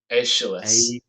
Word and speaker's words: Aeschylus: One might well suppose a schoolboy suggesting the existence of, oh god, how do you pronounce that? Aeschylus.